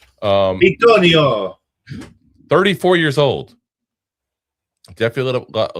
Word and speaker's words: Bitonio: A little DeVito symbol. Bitonio.